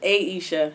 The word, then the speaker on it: Ayesha: It is Ayesha. It's Ayesha. Yes. Okay, so your name was mispronounced growing up?